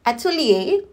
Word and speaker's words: atelier: opposite than what we often think so it's pronounced Atelier based on the research that I did so